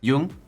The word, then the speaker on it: Jung: I'm like 70% sure it's Jung. Jung? Jung? It's Jung, yeah.